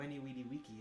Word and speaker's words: veni vidi vici: So Weni Weedy Wiki is how is how Caesar would have said, I came, I saw, I conquered.